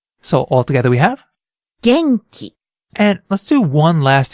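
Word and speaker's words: 元気: Japanese phonetics or pronunciation of Japanese words and syllables let's try another word Gangji Genki means energetic this one has a consonant vowel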